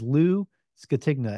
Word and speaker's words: Lou Scatigna: your co-host T Schultz and today's guest is Lou tigna and actually I normally ask how to pronounce a name before we start the episode